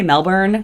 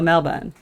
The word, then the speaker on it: Melbourne: I don't say Melbourne because it sounds bad. I go Melbourne.